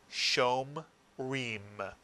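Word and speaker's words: שומרים: And the word is pronounced shom reem, shom reem. And if you roll the R, shom reem, mitsuyan. And it means guards.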